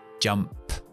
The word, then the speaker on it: jumped: Entonces, pongo la ED, pero pronuncio P más T. Jumped.